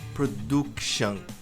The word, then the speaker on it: production: O erro aqui não é nem na tônica, é na pronúncia do do U. Esse U não tem som de production. Olha lá. Production é production.